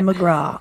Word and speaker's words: McGraw: last name mcgraw yeah i didn't know it that's my secret hard c that's that's how i